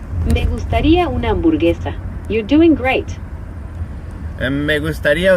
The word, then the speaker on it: gustaría una hamburguesa: How would you pronounce that? Me gustaría comer de tu hamburguesa. Close. It's me gustaría una hamburguesa.